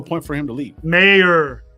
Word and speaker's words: Mayer: Everyone's talking about Meyer being gone, bro. I don't see him leaving, bro. There's no point for him to leave. Mayer. Not Meyer. Mayer.